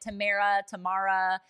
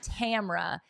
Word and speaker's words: Tamra: I get Tamara. It's just Tamra.